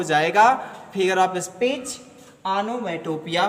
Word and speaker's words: onomatopoeia: गलत प्रोनाउंसिएशन मत करिएगा, आनोमाटोपोइया ना पढ़िएगा, आनोमैटोपिया ही पढ़िएगा। क्यों इसको आप आनोमाटोपोइया नहीं पढ़ेंगे, आनोमैटोपिया पढ़ेंगे।